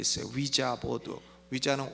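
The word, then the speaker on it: Ouija: 위자는 O-U-I-J-A 이렇게 스펠링 쓰는데 위라고 하는 말은 프랑스어로 예스란 뜻이에요. 그리고 야는 독일어로 예스란 뜻입니다.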